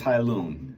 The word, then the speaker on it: Hailun: so far so to recap the brand is hilon it's spelled h AI l n Company from China